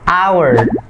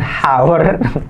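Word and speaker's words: hour: resign Roma versus job our bukan hower januarsa kan karena kisah Nah jadi cukup bacanya our it's our satu jam it's our bukan How Walaupun ada kata Hadi sana tapi hanya enggak dibaca tapi di Thailand jadi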